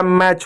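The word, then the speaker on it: match: क्या होता है, हमेशा टी साइलेंट हो, हमेशा साइलेंट हो। बहुत सारे आप वर्ड देखो, जैसे वह मैच हो गया, एम ए टी सी एच, जैसे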